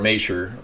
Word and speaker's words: Schumacher: E.F. Schumacher, or Macher, however you want to pronounce the CH, depending on which part of Germany you're from.